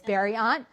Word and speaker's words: Berriault: And I said, "It's Berriault." And so, the brain trust came up with a blueberry um and the pronunciation on the sticker and the button um